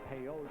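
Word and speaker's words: Pellot: His name was Pelé, Victor Pelé, a French origin name, and pronounced it Peyote, and had to change it, anglicize it when he came over to play.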